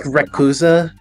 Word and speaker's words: Rayquaza: Rayquaza? That's how you pronounce it, right? Fidgety Frolic right. says, Gengar's back hair. So true. Very true. Pronounced Rayquaza. It's actually pronounced Rekuza.